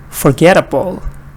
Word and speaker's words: forgettable: In these words, all of them, the stress is on get. So I'm going to go ahead and read them for you. Forget, forget, forgetful, forgetful, forgetfulness, forgetfulness, forgettable, forgettable, unforgettable, unforgettable.